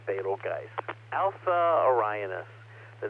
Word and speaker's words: Betelgeuse: slide number 15 please most of you pronounce it beetlejuice i pronounce it betelgeuse alpha orionis the name